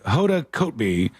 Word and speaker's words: Kotb: It's Kotb. Hoda Kotb is what I think is the right way to say it.